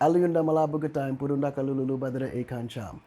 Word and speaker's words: Aliaune Damala Badara Akon Thiam: A A liou Aliaune Damala Badara Akon Let me pronounce it first and then you repeat. Okay. Works? Yes. Aliaune Damala Badara Akon Thiam.